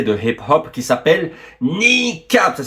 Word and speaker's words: Kneecap: Vous avez peut-être entendu parler d'un groupe nord-hirlandais de hip hop qui s'appelle Nikap. Ça s'écrit K N E E C A P de Patrice et non pas B de Boem.